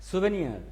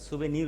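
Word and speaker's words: souvenir: সুভেনিয়ার, সুভেনিয়ার হলো স্মৃতিচিহ্ন বা স্মারক গ্রন্থ, স্মারক স্মৃতি সম্মিলিত স্মৃতিচিহ্ন। সুভেনিয়ার, সুভেনির, সুভেনিরস, এখানে সুভেনিয়ার না, সরি সুভেনির উচ্চারণটা হবে, সুভেনির।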